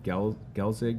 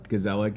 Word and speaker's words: Gezellig: Is it Gelzig? How do you say that brewery? Gezellig, and you were like dipping popsicles in.